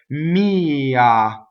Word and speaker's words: mia: Mia. So notice in anima we have all single N's and M's, and then mia, the accent is on the E.